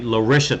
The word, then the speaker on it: Lisha: He said Lissa Thompson, but I looked it up. It's actually Lisha Thompson with an H.